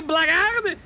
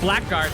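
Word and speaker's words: blackguard: prepare to get slain you blackard apparently that's how you say it I was say Black Guard but black we don't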